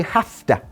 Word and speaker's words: have to: to work every day can you see how I'm saying half day not have to work I have to work I have to work that's the pronunciation that's how we say it in everyday English I have to work